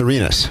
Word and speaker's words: Arenas: It's pronounced Arenas.